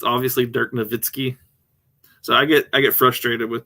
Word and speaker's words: Nowitzki: It's obviously Dirk Nowitzki. So I get frustrated with people who can't pronounce the names, even in our own leagues.